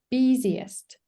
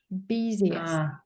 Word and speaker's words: busiest: Be careful with pronunciation. What sound can you hear? Busiest. Busiest.